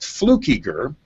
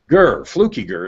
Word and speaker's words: Fluckiger: Anyway, so my last name is pronounced Fluckiger, and the way I teach people that is Fluckiger. Fluckiger is how you pronounce it correctly.